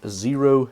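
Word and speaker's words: Xero: These are from Zero Shoes. The name Zero is spelled with an X, as you can see, and they have an affiliate program, so I have a link in the description.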